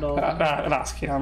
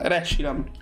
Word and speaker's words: Reshiram: Raskiram, non è Raskiram. Reshiram. Reshiram.